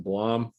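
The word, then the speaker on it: Blame!: And also, if you probably haven't read the manga, it's looks like Blame, but it's pronounced Blom.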